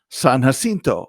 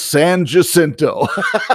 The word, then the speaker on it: San Jacinto: second part was j-a-c-i-n-t-o san jacinto is what i would say yeah and it's san jacinto yeah yeah and i said seriously it's not that that's not how you say it it's like george spelled